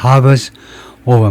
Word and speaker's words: hover: 새로운 현실이 and 하버 정도로 발음하겠습니다. Hovers over. 물론 영국 사람들은 hover 하겠지만 미국 애들은 hovers over peace talks with Ukraine.